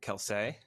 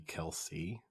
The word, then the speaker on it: Kelce: There's no accent on the E. So there's no reason why it would be Kelsey. You know, like you'd either need an accent or a double E.